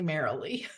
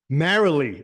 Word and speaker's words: Marilee: girl did I get that right it's actually marily marily oh my God yeah I'm leaving this guys